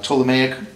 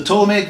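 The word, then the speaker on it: Ptolemaic: you who seen it it's got this little silent p in the front the toic view of the universe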